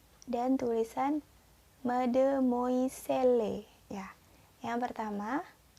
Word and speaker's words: mademoiselle: Ya, kita ulang lagi pengucapannya ya. Yang pertama, monsieur. Yang kedua, madame. Dan yang terakhir, mademoiselle. Monsieur, madame, mademoiselle.